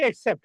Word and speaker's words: accept: আরেকটা আছে হচ্ছে এক্সেপ্ট। এক্সেপ্ট মানে হচ্ছে গ্রহণ করা। ACCEPT, কবুল বলেন না, গ্রহণ করা, গ্রহণ করা, এটা হচ্ছে ভার্ব। এটা হচ্ছে ভার্ব একসেপ্ট। এটা মনে রাখবেন, উচ্চারণটা শুরু ই কে, একসেপ্ট।